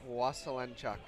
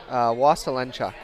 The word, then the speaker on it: Waselenchuk: Waselenchuk. Okay, so... just the way it looks. Come on. Okay, Waselenchuk.